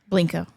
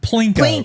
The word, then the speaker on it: Plinko: Okay, so you got the name wrong, but it's I also got it wrong? it's also my Something favorite like that. game. Plinko. Plinko. Oh, okay. I was close. It was Plinko.